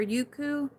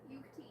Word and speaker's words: Yukti: Yuko or Yuku? Is that how you say it? Yuku? It's an I at the end. Yukti. Oh, Yukti.